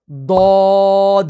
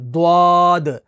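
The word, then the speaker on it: ضاد: फिर आगे इसी तरह दौद, तो इसको भी देखें, दौद, अलिफ और दाल के साथ ये कंबाइन होता है, तो ये प्रोनाउंस होता है। इसके अंदर भी वाव नहीं है, द्वाद, अक्सर द्वाद आपने भी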